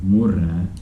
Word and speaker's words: murre: When you're saying next one, murre and Murre, mulle, mulle, very different, yeah.